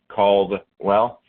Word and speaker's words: Caldwell: but for whatever reason, people have a hard time pronouncing the A and the L together, so I get called Cadwell all the time. It's not like a full Caldwell, right? Like Caldwell. It's Caldwell.